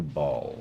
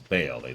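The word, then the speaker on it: Bhaal: the thing is in in the Diablo setting it is specifically referred to as Bale they say his name out loud ball is actually spelled differently b-h-a-a-l um possibly tradexia after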